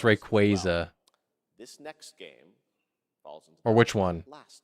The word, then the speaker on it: Rayquaza: Yeah, it's pronounced Rayquaza.